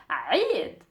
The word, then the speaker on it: Eid: As you write it in English, it's Eid, like that, but we pronounce it as a Eid.